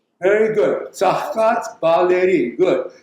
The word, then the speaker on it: Tsaghkadz Baleri: Second one is, I think, Tom, you should pronounce. It's hard to say. Tsaghkadz Baleri. Very good. Tsaghkadz Baleri.